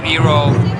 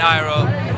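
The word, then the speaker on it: Iroh: we change it to hero and iron it was just that you know it's hero is basically a little more foreign right because iro is a more american way of pronouncing and and it was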